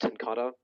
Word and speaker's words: TenKate: it's Dutch if you're curious. It's pronounced tenkata, but most everyone gets it wrong.